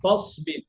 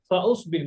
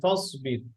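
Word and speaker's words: فَاصْبِرْ: ওয়াসুলহু, ওয়াত্তাবা, ফাসবির, ফাউসবির না, ফাসবির, এটা গেল।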